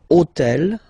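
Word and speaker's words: hôtel: So I took on purpose this hotel. Okay? Because it starts with ash. But remember that in French we don't pronounce ash. Okay? So basically the first sound of the word is the vowel o.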